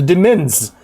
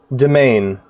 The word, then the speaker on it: demesne: A request hath come in from the Demens. Demens. How do you pronounce that? I'm learning lots of new words lately. Demesne. Is it just Deman? Hold on. Domain.